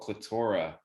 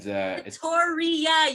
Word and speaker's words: Clitoria: It's called Clitora. And Clitoria, you keep saying it wrong. Really? Yeah. Clitoria. It's literally 2 years. Clitora ironically rolls off the tongue better, okay? Clitoria. It's like Victoria, but Clitoria, okay?